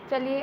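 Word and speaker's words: Chile: इसको आपके टीचर्स ने चाइल्ड पढ़ाया होगा, पर इसकी ब्रिटिश प्रोनाउंसिएशन चिले होती है, सो इसलिए मैं आपको बता देती हूँ।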